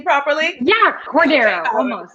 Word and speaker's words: Cordero: Yeah, Cordero, almost. Cordero, okay.